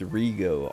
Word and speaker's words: Rigo: before I was like no it's a it's Rigo r-i-g-o he's like okay Rigo um how long have